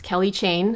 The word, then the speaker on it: Kelly Chaine: Mine is in the yellow gold Kelly Chaine bracelet, otherwise known as Kelly Chaine, which is just the French pronunciation, but it basically means the Kelly Chaine bracelet.